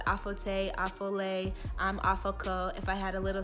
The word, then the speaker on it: Aforkor: It's spelled Aforkor, but it's pronounced Afoko. So if you can imagine, anytime someone sees my name written, it's like Aforkor, Aforkor, like they can't say it right for the life of them.